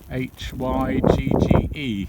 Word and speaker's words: hygge: things the hygge period h-y-g-g-e i think it's spelt but it's pronounced hygge and we call those